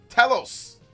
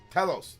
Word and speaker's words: Telos: I pulled a Telos. Telos, not Telos. Telos. People get mad when I pronounce things.